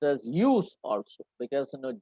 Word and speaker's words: jus: Just is to be pronounced as use also, because J is silent there in Latin.